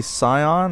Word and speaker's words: Xsyon: is not the deadlinger this is actually scion i think it's how you pronounce it x y s o n um i really don't